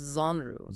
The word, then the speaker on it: genre: It's pronounced Zru.